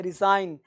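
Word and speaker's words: resign: ये जी साइलेंट है, रिजाइन, रिजाइन, ये जी का साइलेंट कम करेंगे, रिजाइन। ये इसको सा को हल्का सा ज साउंड पड़ेगा, रिजाइन, रिजाइन, है ना।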